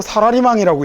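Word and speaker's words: サラリーマン: 더 신기한 건 이렇게 써놓고 사라리망이라고 읽어요.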